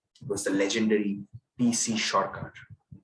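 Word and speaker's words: Sorcar: It was the legendary PC Shorkar. Not PC Sarkar, Shorkar. That's how Bengali is pronounced.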